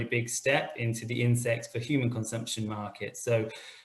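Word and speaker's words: Ynsect: It's Insect spelt with a Y, and they've probably raised more investment than anyone else in the insects for animal feed side.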